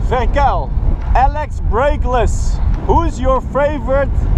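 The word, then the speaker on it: Verkuijl: bull whip Johnson wants to know how to pronounce my last name it's verel v r k u i j l verel Alex breakless who's your favorite Pro Rider I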